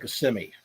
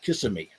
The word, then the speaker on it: Kissimmee: is the town of kissimmee and people laugh if you if you uh if you pronounce it kissing me they'll make fun of you but the story